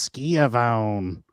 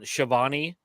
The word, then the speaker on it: Schiavone: He's like, somebody tell the host that it's not pronounced Schiavone. I'm like, kid. I'm telling you that the AEW Darks during the pandemic with Chris Jericho and Shivani on commentary are some